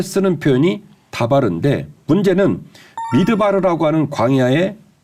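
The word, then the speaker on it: מדבר: 자, 광야라는 말은 황무지라는 말, 벌판이라는 말인데 히브리 말로는 미드바르라고 읽어요.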